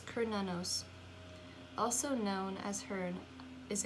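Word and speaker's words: Cernunnos: So pronounce Kernanos, also known as Hearn, is a Celtic stag god who represents connection to the earth.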